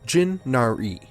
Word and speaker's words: Jinaere: along my character was jinari pronounced jin nari she wanted to become